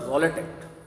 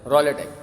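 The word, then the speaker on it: Rowlatt: से य एक्ट पास हुआ जिसका नाम है रोलेट क्या नाम है रोलेट रलेट एक्ट की स्पेलिंग सबको पता है भैया आर ओ डब्लू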